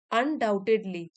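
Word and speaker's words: undoubted: होगी while financial stability अन डाउटेड इसमें B silent है अनड्यू टू सिक्योरिटी अनडाइल्यूटेड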